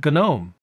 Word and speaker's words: GNOME: the same way, it's actually supposed to be pronounced GNOME.